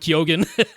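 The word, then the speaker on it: Keoghan: he's pronounces last name kogen uh which uh most people in Ireland wouldn't pronounce the G but he himself pronounces the G so I'll go with kyogen um would have seen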